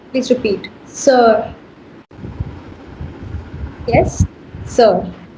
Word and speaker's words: sœur: Sister को French में कहते हैं सर. Please repeat, sir.